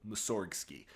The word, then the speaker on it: Mussorgsky: and pronouncing the name with the G in place and with the emphasis on the second syllable, Mussorgsky.